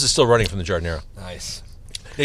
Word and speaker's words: giardiniera: Oh my god, my nose is still running from the giardiniera. Nice. Yeah, you guys all pronounce it in the very distinctly Chicago way, giardiniera. Giardiniera. The A doesn't exist.